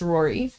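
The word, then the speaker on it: Ruairí: It's like, it's spelled like Rua Iri. But it's pronounced Rory.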